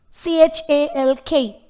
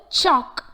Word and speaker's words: chalk: C-H-A-L-K. The word chalk has the letter L but it is unheard. It is just chalk, not chalk.